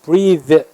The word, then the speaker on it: breathe: 원래 breath, 그러면 th로 발음해서 breath면 숨이죠. 호흡. 근데 e가 붙어서 breathe 이렇게 발음하면 호흡하다, 숨을 쉬다라는 뜻이 됩니다.